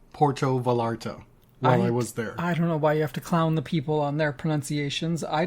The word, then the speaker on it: Puerto Vallarta: Americans, but Canadians saying Puerto Vallarta while I was there. I don't know why you have to clown the people on their pronunciations. I didn't say it correctly. I didn't roll my R.